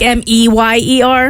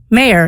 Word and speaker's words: Meyer: Like M E Y E R. Yes. Me, too. It's Oscar Mayor, not Oscar. Well, no, it's Oscar Meyer, not Mayor.